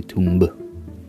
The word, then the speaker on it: tomb: It's a thing in English to not pronounce the B after the M.